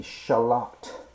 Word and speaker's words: shallot: I like to use the French pronunciation, the shallot.